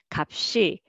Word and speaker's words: 값이: So you can just simply carry the second of the 2-letter carryover. So first character for the first syllable, and second one carryover, 값이, 값이.